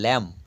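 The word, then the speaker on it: lamb: অর্থাৎ কাম মানে চিরুনি এল ও এমবি শেষের বি এর উচ্চারণ নেই অর্থাৎ ল্যাম্প ল্যাম মানে ভেড়া টি এইচ ইউ এমবি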